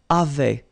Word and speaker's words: avaient: And then you saw probably that we've got also here A-V-A-I-E-N-T, but then you pronounce it avait.